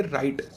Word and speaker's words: writhe: तो उसे बोला जाएगा, इसे आप बोलोगे राइट। राइट की तरह बोलो इसे, राइट। रिथ मत बोलो इसे, राइट बोलो। राइट, WRITHE, राइट।